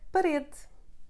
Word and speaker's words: parede: E sounding like U, the muted sound of E. It happens at the end of the words when not in the tonic syllable, like parede, tomate, or the preposition de.